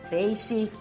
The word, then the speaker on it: peixe: nas palavras primeira dica usamos a letra x com som de ch após ditongos ameixa peixe caixa e após a sílaba